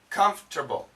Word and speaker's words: comfortable: are you comfortable pronunciation watch the pronunciation comforable that's right it sounds like comforable comfortable comfortable comfortable this gets the accent comfortable very very few people will say comforable in the dictionary it might say that but in Daily English